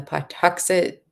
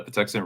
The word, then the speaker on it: Patuxent: for you uh can you repeat when the part toxic I I said it wrong river bridge will be completed sorry I had to get off of meat again uh yes so the Patuxent River um the bridge over it is part